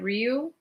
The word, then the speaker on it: Riu: I actually was going to stay at Rio. I think that's how you say it.